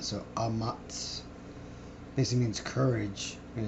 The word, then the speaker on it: Ahmatz: This first word here is Ahmatz, or Ahmatz. Yeah, basically Ahmatz, and then you just, because it's connected, the A at the end is silent, so Ahmatz basically means courage, and it's H553.